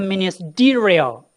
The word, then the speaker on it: ministerial: This is the first syllable from backwards. The second one, the third one. This is ministerial. The third from last will be stressed, okay?